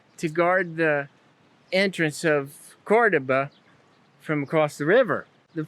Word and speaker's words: Córdoba: the bridge more effectively cordoba has the accent on the first doe cordoba in spanish it's the capital of